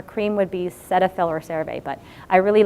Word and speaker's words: CeraVe: I like CeraVe, which is spelled C-E-R-A-V-E.